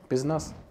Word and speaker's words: Pézenas: Alors, comment on prononce ? Pesnas. Parfait. Pesnas.